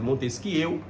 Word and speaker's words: Montesquieu: Se escreve Montesquieu, mas é Montesquieu, o barão de Montesquieu.